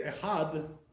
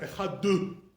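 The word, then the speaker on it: אחד: It's softer, So the proper way to say echad is like not echadu, like some Ashkenazim they say, echadu. No, not like that. That's too hard. So how do you say echad? Softer. That's the way it's supposed to be done, right?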